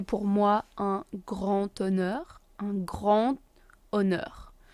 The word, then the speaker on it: un grand honneur: Un grand honneur. We do the liaison between the D and the H because H is silent, so un grand honneur.